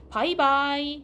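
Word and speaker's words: 拜拜: 영어의 단어 가운데 굿바이 할 때 요 바이 요거랑 발음이 비슷한 그 한어병을 아무거나 갖다 취해서 두 개를 붙여서 바이바이라고 하는 건데 요 표현은 그 현재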